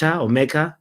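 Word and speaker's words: Nmecha: we've got uh mea mea he's got an N at the beginning of his name and I believe the N is silent we talked about this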